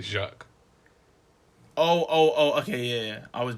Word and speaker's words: Jacques: No, it's Jack. But it's spelled like... I might have said Jacqueline, but it's spelled the French way though, innit? So it's like Jacquees. So Jacquees. But it's like... No, it's like Jacques.